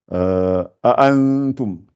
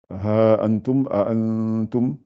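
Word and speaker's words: أَأَنتُمْ: A'antum. A'antum. Donc aussi c'est dans le Coran. Donc surtout quand les deux A se suivent, prononcez-les bien. A, articulez bien.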